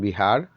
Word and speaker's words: बिहार: तो विहार जो था, विहार बिहार में परिवर्तित हो गया और अभी हम प्रोनाउंसिएट करते हैं, उच्चारण करते हैं बिहार।